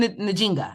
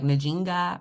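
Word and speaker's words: Njinga: her name right yes Queen najinga like najinga or ninga I think I feel like that J's kind of Silent it's not like a hard J but I've been I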